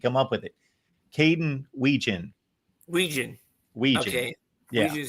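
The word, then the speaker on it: Wetjen: Caden Weegan. Weegan. Weegan. Okay. Yeah. Weegan. So the T's actually silented. Yes. I believe Okay. I'm pronouncing that correctly.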